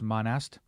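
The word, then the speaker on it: Serge Monast: world's governments I'm probably going to get his name wrong but Serge Monistat it's not actually Monistat it's monest Serge monest I looked up how to pronounce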